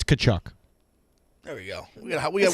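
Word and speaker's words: Tkachuk: you started with two different two different letters pronounce it I don't know it's kachuk there we go it sounds like it sounds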